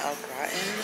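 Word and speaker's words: au gratin: um steak with um I believe it's pronounced out gratin potatoes or basically like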